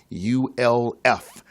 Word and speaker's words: Ulf: of you listening Brian you LF it is pronounced like golf without the G and he is the